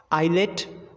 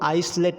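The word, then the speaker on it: islet: Island, आइलेट, आइल। अब गलती से इसको आइसलैंड नहीं पढ़ा जाएगा और इसको आइसलेट नहीं पढ़ा जाएगा और इसको आइसल नहीं पढ़ा जाएगा।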